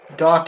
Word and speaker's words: Dach: Dach, as in you docked it somewhere. That's how you pronounce his name.